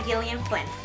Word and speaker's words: Gillian Flynn: And the very last book I read in April is Gone Girl by Gillian Flynn.